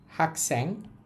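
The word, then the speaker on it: 학생: শব্দগুলো আছে দেখেন এখানে লেখা আছে হাক স্যাং হাক্যাং অর্থ হচ্ছে ছাত্র শব্দগুলোর উচ্চারণ আমি হয়তো দুই তিনটা অধ্যায় লিখে লিখে আপনাদের পড়াবো বা বলার বলার চেষ্টা করবো।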